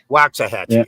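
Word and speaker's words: Waxahachie: okay Wily okay Wily oh I know that that's waxah haxi right it's waxah Hatchi waxah hatchee okay yeah but you gotta remember you say walks and we say wax you know and in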